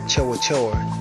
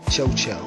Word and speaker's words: Chowa Chowa: This was around 1991 when another one of these Chowa Chowa did a similar thing. Another pronunciation is Chocho.